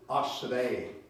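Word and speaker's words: אַשְׁרֵי: Now, in the Hebrew language, this is how you say blessed, ashrei.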